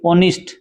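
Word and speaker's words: honest: ये फाइट का मैंने बताई दिया, इसमें GH साइलेंट है, इसमें H साइलेंट है ऑनिस्ट में।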